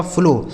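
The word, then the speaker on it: flow: इस ओ डब्ल्यू का उच्चारण ओ की मात्रा। यह लिखा गया आपका फ्लो।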